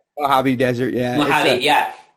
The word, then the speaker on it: Mojave: major desert is is that how it is pronounced mojave desert yeah yeah it's it's kind of a